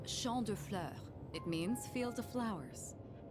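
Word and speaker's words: Champs de Fleurs: Champs de floors? Clears. How do you say that? It's Champ de Fleurs.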